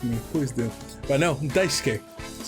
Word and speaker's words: Daisuke: I, Katano, will answer along with General Director Daisuke Ishiwatari. Ishiwatari. I'm pretty sure I'm saying his name right. Gotta make sure. If anyone can correct me, please do. But no, Daisuke. That's how you pronounce his first name.